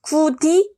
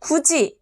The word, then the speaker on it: 굳이: 다음 교체한 상 보겠습니다 같이 굳이 미닫이 발음하면 어떤 식으로 발음되죠 같이가 아니라 같이 구디 아니고 굳이 미다디가 아니고 미닫이로 발음됩니다 얘네는 보면 뭐가 뭐로